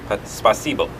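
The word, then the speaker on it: спасибо: and then to say thank you will be spasible gender roles in Russia are a lot different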